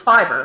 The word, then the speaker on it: Fiverr: on a Fiverr or fiver I mean how I never know how to pronounce that I always call fiver but people then tell me Nob Barb it's Fiverr and whatever so let's